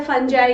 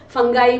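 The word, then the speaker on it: fungi: ठीक है, फिर आ जाता है फंजाई, कुछ इनको फंगी बोलते हैं, कुछ इनको फंगाई बोलते हैं, सबका अलग अलग प्रोनाउंसिएशन है। हमारे टीचर ने फंजाई कराया तो हमने भी फंजाई कर लिया।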